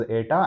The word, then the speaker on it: eta: It is pronounced as ATA.